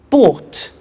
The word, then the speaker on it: bought: to the pronunciation by bought you notice that o-u-g-h-t is pronounced ort by bought come came